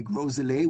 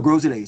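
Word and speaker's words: Gros Islet: You can say Friday night street party or you say Grolet, which is G R O S.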